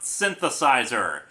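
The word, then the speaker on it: synthesiser: with the aforementioned words synthesis ER is just the British spelling of synthesizer and I have quite a few British fans who pointed out how stupid I sounded when it's still pronounced synthesizer considering doctor who was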